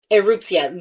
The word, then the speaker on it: Erupcja: Erupcja? Erupcja, the Polish pronunciation for eruption. E-U-R-O, Eruptia.